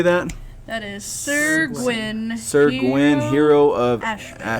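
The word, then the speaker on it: Syr Gwyn: That is Sir Gwyn.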